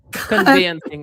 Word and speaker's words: conveyancing: By the way, Sonji, how do you pronounce it? Conveyancing? You need to teach me. Conveyancing.